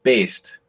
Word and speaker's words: Baest: really bad at uh it's pronounced Bast okay that's I that's